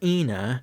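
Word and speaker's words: ἕν: prot-on or the word ena, meaning one, like the god Proteus or the true name of the god in ancient Greece was en, en like you pronounce enable.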